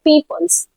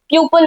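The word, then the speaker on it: people: हम बोल देते हैं पीपल्स, या फिर बहुत लोग तो उसको प्रोनाउंस ही गलत करते हैं, प्यूपल बोलते हैं। ये प्यूपल नहीं होता है, पीपल होता है, और पीपल का मतलब ही होता है बहुत सारे लोग।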